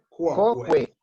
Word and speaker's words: quoque: Sparta, no sé cómo se pronuncia eso. Quoque. Quoque. Coque. Sí. Coque.